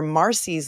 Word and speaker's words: Marsy: However, under Marcy's law, which is spelled Marsy, in Florida, the family of victims have certain rights.